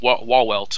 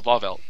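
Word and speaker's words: Wahrwelt: Yeah, and Yuak basically just names his new palace called Walwelt or something like that. I'm not sure. I think at least one of those W's is pronounced like a V.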